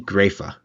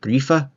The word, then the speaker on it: Grefe: Grifa? Grayfa? I heard a pronunciation said grief. Don't think that's right, but it could be. Going to go with Grayfa because apparently that's how you pronounce it in German.